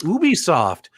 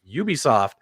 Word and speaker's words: Ubisoft: star wars nerd super excited to hear that ubisoft is going to be working with um with